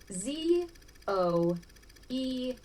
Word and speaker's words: Zoe: Alexa, how do you pronounce Ze Z O E is pronounced Zoe?